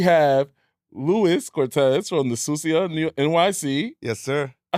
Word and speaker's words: Sucia: Yeah, we have Luis Cortez from the Susia NYC.